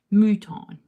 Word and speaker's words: mouton: dress age appropriately I I have Mouton yes like the French pronunciation I have a deer